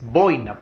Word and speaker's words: boina: siguiente palabra la palabra no es buena es boina por ejemplo está ésta boyle a la fuerza voces voy voy nada grave que